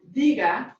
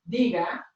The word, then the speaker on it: diga: When there's no written accent mark, the natural stress is going to fall on the second to last syllable. So we have a rule that tells us how to pronounce this word. So the word diga, my formal usted command